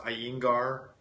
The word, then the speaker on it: Iyengar: One of the best forms of yoga I like is I believe it's pronounced Iyengar.